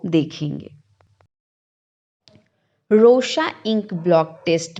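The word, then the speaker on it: Rorschach: इसका जो प्रोनाउंसिएशन होता है वो रोशचैच नहीं होके रोशा होता है.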